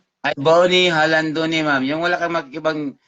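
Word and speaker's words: Jalandoni: Halandoni. Halandone. Pero Jalan. Ang iba kasi pagbasa niyan, Jalandone. Murag sa Jalandone. sound H, sound, silent H Murag- man good.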